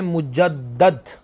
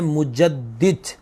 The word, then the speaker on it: مجدد: ملا۔ مجدد، ایک تو بعض لوگ یہ لفظ پڑھتے ہیں مجدد، یہ بالکل درست تلفظ نہیں ہے، صحیح نہیں ہے، لفظ ہے مجدد۔ میرے شیخ کریم جن